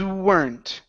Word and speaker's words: weren't: Things weren't.